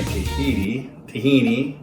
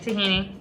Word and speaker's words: tahini: We've got our 1/4 cup of freshly made dirty tahini. Did I say that right? Yep, tahini. Said it wrong the first time.